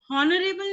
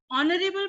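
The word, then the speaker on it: honourable: ऑनरेबल, हॉनरेबल नहीं बोलेंगे, ऑनरेबल बोलते हैं।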